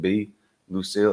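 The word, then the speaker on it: Bea Lucille: It's Bea. She pronounces it B Lucille, Lucile.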